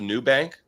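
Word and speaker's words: Nubank: You guys heard of the New Bank? It's new. It's also not spelled new. It's spelled new and you.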